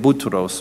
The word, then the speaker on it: Boutros: Arabic we say Boutros because the Arabs can't pronounce P so we get Boutros or Boulos for Paul